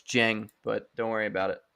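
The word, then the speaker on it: Dieng: I'm like, why are you drafting Ousmane Dang? I know. First of all, it's Jeng, but don't worry about it.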